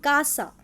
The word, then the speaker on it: casa: And the examples are CA as pronounced Ka, as in Casa, Casa.